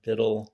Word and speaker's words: Biddle: Gibson like the guitar, Biddle rhymes with middle.